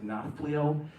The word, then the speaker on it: Nafplio: So one place, the place where we started in Greece this time it looks like Napoleon. In Greece, it sounds like Nafplio.